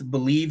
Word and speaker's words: Bleav: Believe as well. So it's BLEAV, I believe is how you spell it, but it's pronounced Believe.